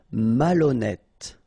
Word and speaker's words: malhonnête: Malhonnête. Okay, remember, H doesn't exist, so malhonnête. Don't insist on the final E. Malhonnête. And here you get E accent circonflexe, so you pronounce it like E.